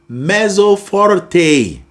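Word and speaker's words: mezzo forte: So, we have messorte. Did you hear how I pronounced it? It's an Italian word, so you got to give it that Italian feel to it.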